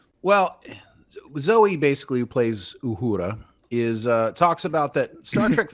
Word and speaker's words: Uhura: Obviously, I roll my R's. Yeah. Okay. Let's go try this again. Zoe Saldana, Uhura. Yes, there we go. It just sounds so white when I say it like Uhura. You know that Uhura girl? That's not the way they're going to say it in Africa.